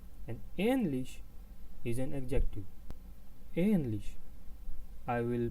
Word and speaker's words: ähnlich: Ähnlich, I will pronounce them once more. Äpfel and ähnlich, Äpfel and ähnlich, which means apples.